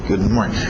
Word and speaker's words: good morning: Então, morning, ele fica no nariz, ok? Good morning.